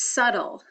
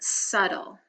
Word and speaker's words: subtle: the next word is subtle and so that B is silent subtle the next word arduous